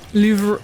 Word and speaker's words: Louvre: Louvre. It's like spelled like L-O-V-R-E, Yeah. which always confuses me.